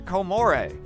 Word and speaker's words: Comoros: And while it's spelled like this, the locals pronounce it something closer to Comore.